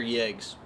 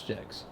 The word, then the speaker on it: Jegs: Do you think that's pronounced jegs or yegs? Bro, we're in America. That's jegs.